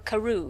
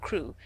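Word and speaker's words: Crewe: difference in the name Madame Pascal pronounced it as if it were Karu instead of crew but that might be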